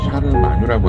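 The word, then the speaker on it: Charlemagne: 불어로 발음하면 샤를마뉴라고 하는 이름이 되고 독일 사람들이 쓰는 독일어로 얘기하면 이 사람의 이름이 칼 대제가 돼요.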